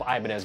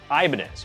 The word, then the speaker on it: Ibanez: Side note, I probably, like you, have pronounced this Ibanez my whole life because I'm an American and we are exceptional at mispronouncing other languages' words.